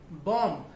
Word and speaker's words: bomb: फॉर example, bomb, that is B-O-M-B, bomb, not bomb. B ऐसे case में silent रहता है.